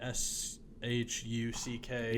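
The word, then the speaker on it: Shough: Why is it a uh U G when it's should just be s H U C K. Yeah, when it's pronounced Shuck.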